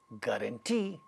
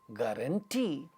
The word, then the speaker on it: guarantee: like when we when a word ends in E or Oh like guarantee or Sampo in such cases the stresses on the last syllable with these sounds because not just not just because of that but also because they are vowel sounds so when you were like guarantee the last syllable gets a stressed Sampo last syllable gets